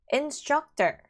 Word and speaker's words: instructor: 접니다 자 그래서 이렇게 instructor 했을 때 강사라는 뜻이고요 struct 아 가운데 진 강제 있어요 and the instructor is clear 자 second